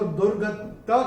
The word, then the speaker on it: दुर्गतिं: चरण में ये जो दुर्गता के ऊपर जो अनुस्वार आ रहा है उसके बाद का अक्षर है त, तो अनुस्वार के बाद जब त आएगा तो अनुस्वार का उच्चारण होगा न।